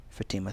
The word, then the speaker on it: Fatima: Sometimes my name makes me feel different, Fatima thought, as she studied herself in the mirror. Fatima had learned to answer slowly when people asked her name. She pronounced each syllable, Fa-ti-ma.